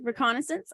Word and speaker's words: reconnaissance: Did I pronounce that correctly? Yeah, reconnaissance.